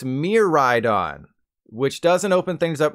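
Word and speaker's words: Miraidon: boom got em but since this Pokemon is based on the Japanese word for future that means it's pronounced Mir ride on which doesn't open things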